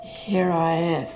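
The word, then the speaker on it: hiraeth: It's pronounced here I is with a kind of lilt. And it's a Welsh word.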